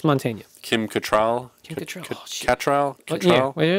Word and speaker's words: Mantegna: It's Montaigne.